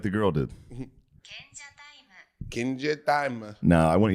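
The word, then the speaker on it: 賢者タイム: Kenja taimu. That's what I meant. That's kenja time. Kenja taimu. Say it like the girl did. Kenja taimu.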